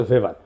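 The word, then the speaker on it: Weber: না আরেকজন দার্শনিক আছে ম্যাক্স ভেভার এটা ওয়েবার বলে অনেকে এটা উচ্চারণ আসলে ভেভার তার একটা লেজিটিমেসি এবং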